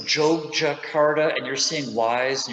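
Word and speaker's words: Yogyakarta: everybody by the way you notice i'm saying joe jakarta and you're seeing wise and you're saying why is he saying that oh blame the dutch it's a long story it's pronounced joke jakarta or just jojo for short the batik of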